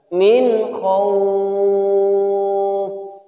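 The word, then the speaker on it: مِنْ خَوْفٍ: Cara bacanya jelas, nunnya jelas terdengar. Min khawf. Tidak boleh dibaca dengung. Min khawf. Atau dibaca memantul.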